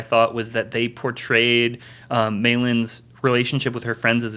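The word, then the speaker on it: Mei Lee: By the way, pronunciation-wise, it's Maylin, but does she go by Mai or is it May? I think it's May May. Like they call her May.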